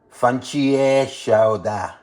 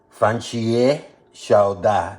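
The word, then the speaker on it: 番茄炒蛋: In Chinese, it's pronounced or it's known as fan chie xiao da. Fan chie xiao da.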